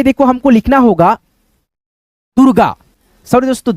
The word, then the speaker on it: दुर्गा: जिस अक्षर पे ये मात्रा रेफ का लगेगा उस अक्षर से पहले इसका उच्चारण र में हो जाएगा। दूरगा दुर्गा।